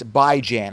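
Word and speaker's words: Bijan: no j h n it's by Jan as in biweekly and ran so I love by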